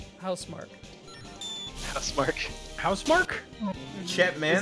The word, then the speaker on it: Housemark: Nick, you almost had it, but then you said House Marquee. Instead of what? How do you pronounce it? Housemark.